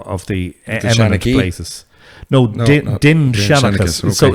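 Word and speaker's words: Dindshenchas: And the Dinshanachus material, actually the proper pronunciation in modern Irish is Dinshanachus.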